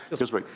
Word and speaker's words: Healdsburg: Healdsburg, is that pronounced correct, sir? Healdsburg.